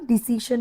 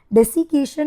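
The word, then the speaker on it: desiccation: ভুল বললাম ডিসিশন নয়। ডেসিকেশন প্রোনাউন্সিয়েশনটা এক্সট্রিম ড্রাইনেসটা থেকে ওটা বাঁচায়।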